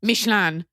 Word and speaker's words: Michelin: okay first of all it's pronounced mishan number two which is